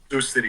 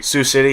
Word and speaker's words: Sioux City: Sioux City. Sioux City, yeah.